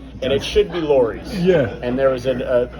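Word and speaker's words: Lawry's: sounds more Regal right and it should be Lori's yeah and there was a the lore is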